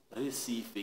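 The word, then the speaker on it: Recife: capital c'est récifer récifer pour ça monde qui prononcé récifé qui dit récifer parce qu'il pas prend dans alphabet portugais qui sont pays lusophones il dit Rcifer fait con ça qui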